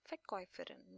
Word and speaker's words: Verkäufer: So Verkäufer, now this A and U combination, these are the diphthongs, two sounds together. So we pronounce this as Oi, Verkäufer. This is like Oi, the sound of Oi, Verkäufer oder Verkäuferin.